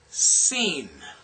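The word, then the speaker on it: Sin: This is this is pronounced seen as in seen.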